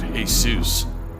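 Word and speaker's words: Jesús: Walter's first name Derek middle name Jesus I think that pronounce it hey soos uh you might want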